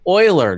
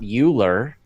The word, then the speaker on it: Euler: things wrong you know it's pronounced Euler not Euler you know and then